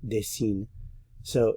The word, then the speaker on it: dessines: Dessine, dessine, dessine, dessine. So, je, tu, il, elle, on, and il, elle, plural, are all pronounced the same.